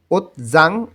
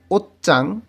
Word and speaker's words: 옷장: বাচ্ছিম আসে যেমন জিউত, শিওতের পরে যদি জিওত আসে তখন এই জিউতের উচ্চারণ জ না হয়ে চয়ের মতন উচ্চারণ হবে, তাই এইখানে উচ্চারণ হবে ওচ্চাং। ওচ্জাং এটা উচ্চারণটা ভুল হবে, উচ্চারণটা হবে ওচ্চাং আলমারি, ওচ্চাং আলমারি।